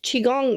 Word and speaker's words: Qigong: I just want to clarify for everybody listening chiong that's spelled Qi g o n G correct if